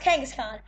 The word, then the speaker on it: Kangaskhan: have two facts right now first off it's pronounced Kangaskhan and the second fact and the second fact